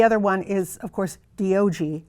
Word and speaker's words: Diogi: And then the other one is, of course, Diogi. That's spelled D-I-O-G-I. Diogi, sound it out.